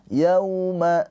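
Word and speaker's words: يوم: Di sini ada wau sukun sebelumnya harakatnya fathah. Ini adalah harfulin. Bagaimana cara bacanya? Bacanya itu dilembutkan atau dilunakkan ke huruf wau yau gitu ya. Tapi jangan dibaca panjang karena ini bukan madlin yaum tab. Yauma tab gitu aja ya.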